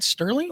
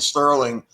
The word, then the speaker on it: Serling: And I'm like, wasn't it Rod Serling? Look at the fact that Michiganders pronounce Kroger's, everything and Myers. Everything has an S at the end. I'm telling you, people mistake Serling and Sterling everywhere.